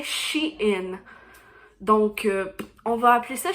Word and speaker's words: Shein: elle me dit que les américains les anglais lui avait dit que ça se prononcer chine donc on va appeler